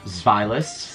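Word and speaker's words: Zweilous: Pronounced Zvilus. Zvi. Yes, because the it goes from one-headed dragon to a two-headed dragon to a three. So it's Dino, Ein in German. Zvilus, Zvi is two in German.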